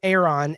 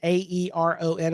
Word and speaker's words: Aeron: I have a Herman Miller Aeron, Aeron, I think is how it's spelled.